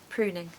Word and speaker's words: pruning: cuz a u but it's actually not it's an ooh sound as if it's a double O Okay so pring ooh pruning number 10 I've left